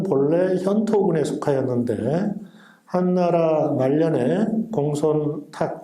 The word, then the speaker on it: 공손탁: 조금 지나서 부여의 역사에 대해서 부여는 본래 현토군에 속하였는데 한나라 말년에 공손탁, 공손도라고 읽기도 합니다만 이 해동에서 세력을 확장하여